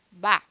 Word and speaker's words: ver: é verbo tá E que pronunciou ver pronuncia quase como um B bar tá bom John Necessito